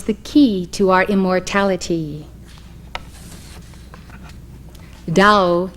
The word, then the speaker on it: Tao: key to our immortality dao in chinese which as you know is spelled t a o dao means road way or